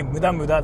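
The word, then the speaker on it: 無駄: But if you say muda, that's like useless. So like you gotta be careful of the pronunciation. Mura is horny. Muda is useless.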